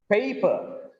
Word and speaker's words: paper: When you read a stressed syllable, you need to give extra breath force, louder, okay, and little longer. You need to read, for example, paper. Paper. Here, the voice is raised. Prominence is given on pay.